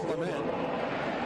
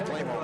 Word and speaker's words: Clement: And Rowbottom is tackled by Chase Clement. Chase Claymore. He's going to do my French pronunciation.